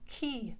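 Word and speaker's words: quay: you have a word spelled q-u-a-y but it is pronounced key and it's like a pier so silver darling's on aberdeen key and then it says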